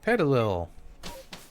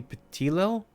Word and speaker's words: Petilil: Petalil. Or I guess it would be Petilil? Like petite?